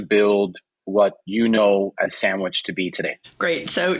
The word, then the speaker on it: Sanguich: we all know that right but when you pronounce it with our translating like us us as Spanish-speaking citizens reading a word it's sandwich yeah I love it and so it's like